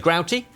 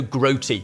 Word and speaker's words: Grouty: Interesting pronunciation, looking back at the history books, it seems to be both ways. Grouty, but also groaty.